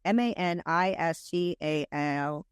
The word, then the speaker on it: Maniscalco: So Sebastian Manic, I never say his name right. It's Maniscalco.